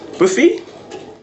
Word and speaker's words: Buffi: Buffi? Yes, that's correct. Yeah, actually, Buffi, if you want to restrict, but it's an Italian surname, that's why. But it's totally fine how you pronounce it, no worries.